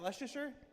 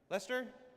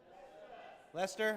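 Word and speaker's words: Leicester: How do you say, is that Leicer? Lester. Lester.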